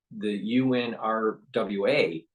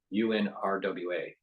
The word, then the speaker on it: UNRWA: And because of the UNRWA being investigated for improprieties and knowing and seems